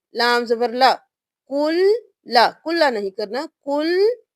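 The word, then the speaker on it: كُلّ: کی سپیلنگ کر لیجئے آپ نے کسی بھی مشدد حرف میں کسی ایک حرف کو بھی نہیں چھوڑنا ہر مشدد حرف 2 بار ادا کیا جائے گا کاف پیش لام کل لام زبر لا کل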